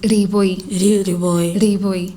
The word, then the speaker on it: Liboi: But then Liboi, we usually pronounce it Liboi.